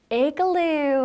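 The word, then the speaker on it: igloo: 이글루를 어떻게 발음을 멋있게 하면 되냐면 에글루 하시면 되겠습니다.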